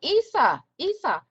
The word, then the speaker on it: Isa: I want to make sure that you know Isa rhymes with, oh, Isa.